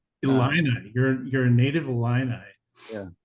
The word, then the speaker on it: Illini: You say Illini. Uh, Illini.